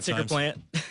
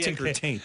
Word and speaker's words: tickertank: ticker tank yeah you said it wrong not ticker plant not ticker plant not ticker you not ticker not ticker taint not ticker tank ticker taint tank ticker tank T ticker tank I'm not sure okay but it ain't ticker